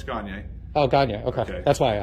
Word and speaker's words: Gagne: Oh, Gagne. No, it's Gagne. Oh, Gagne, okay. That's why I asked. All right. Cool. If you can't pronounce it that way, think of Kanye by Gagne.